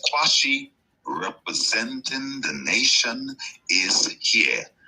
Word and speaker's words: Qshan: name isi this is the Q of my name s h n from the suffix of